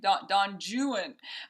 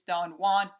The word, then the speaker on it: Don Juan: Don Juan is how they pronounce it, but Don Juan is a masterpiece of Lord Byron's.